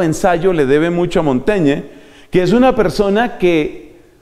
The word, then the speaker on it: Montaigne: que mencionar por ejemplo a montaña que se escribe montaigne montañe que empieza a escribir